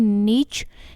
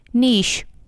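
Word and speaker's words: niche: यू can easily understand American English में इसकी pronunciation होगी नीच एंड ब्रिटिश इंग्लिश में इसकी प्रनंसीएशन होगी निशा निशा जी कि इस नोट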